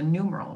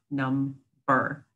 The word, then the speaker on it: number: longer it's numer not num bur you don't pronounce the b the second time around so these are our